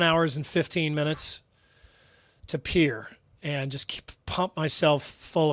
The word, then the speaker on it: Pierre: Pier South Dakota it the word is definitely Pierre but they they pronounce it Pier that's pronounced in South